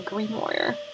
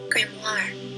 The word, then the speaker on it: grimoire: What the fuck is a grimoire? I'm gonna look it up. A book of magic spells and invocations. Yeah, I could have guessed. Now, how do you pronounce it? Grimoire.